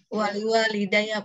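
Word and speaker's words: وَلِوَالِدَيَّ: wali-walidayya, bukan wali-wali-wali. Gimana Ibu baca Ya, tadi? Bu. Bismillahirrahmanirrahim. Allahumma ghafirli wali walidayya. Nah, wali. Yang betul bacanya bagaimana? Wali walidayya. Wali walidayya.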